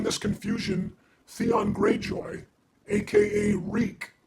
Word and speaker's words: Reek: During this confusion, Theon Greyjoy, aka Reek, it rhymes with sneak, escapes in search of Stannis' troops, which are buried in a blizzard.